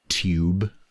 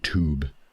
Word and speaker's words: tube: Uh, tube like a tube, whereas Americans would say tube.